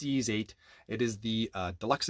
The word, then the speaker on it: Ys: uh expensive this is yeez8 why do they have these names lacrimosa of Dana I have no idea if I'm pronouncing that correctly it's ease 8 it is the uh deluxe edition on PlayStation 5.